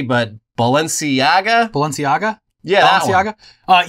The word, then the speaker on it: Balenciaga: from him, including his favorite, which I never pronounced correctly, but Balenciaga.